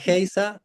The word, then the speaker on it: Geise: Melisa Geisa, así se pronuncia tu apellido. Heisa. Geisa. Pronuncié mal el de Pablo la semana pasada. Un desastre. Melisa Heisa.